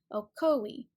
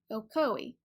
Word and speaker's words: Ocoee: koi now the people who pronounce it with three syllables will swear to you